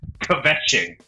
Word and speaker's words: kvetching: Is the K silent? If the K is silent...